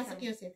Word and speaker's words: Massachusetts: Massachusetts. Kasi may silent doon. Sige. Massachusetts. Massachusetts, pero in para in maintindihan. Okay, yung silent lang ba silent? Kasi sa spelling yun, ang pronunciation may silent.